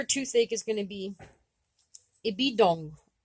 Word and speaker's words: ibidôgw: The root word for toothache is going to be ibidong. Ibidong. Ibidong. That W is silent or quiet, and I have trouble saying it.